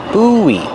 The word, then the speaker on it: buoy: When you link the vowels, you hear kind of a W sound. W together. Boo. Buoy.